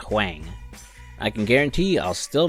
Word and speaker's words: Huang: It's pronounced Huang and not Huang.